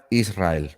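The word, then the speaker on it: ישראל: Y se pronuncia Israel, ¿vale?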